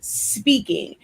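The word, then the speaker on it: Spinkin: product line honestly speaking it is spelled s p i n k i n but it's pronounced speaking because if you don't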